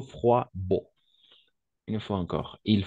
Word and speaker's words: froid: ici où il fait froid d'accord froid froid toujours la combinaison des voyelles en haut et i on va toujours prononcer roi d'accord donc froid il fait froid d'accord